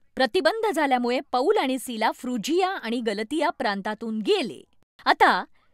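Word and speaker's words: Phrygia: कदाचित मला म्हणायचं होतं नाही रेफ्रिजरेटरचा विचार करा फ्रुजिया कारण मी त्याला कदाचित पर्जिया म्हटलं असतं आणि बघा परमेश्वर माझा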